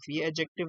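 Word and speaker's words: adjective: पर number one है एडजेक्टिव होते हैं ठीक है और एडजेक्टिव नहीं होता और जेट जो आप बोलते हो गलत बोलते हो क्योंकि यहां पे दी साइलेंट है ठीक है एडजेक्टिव याद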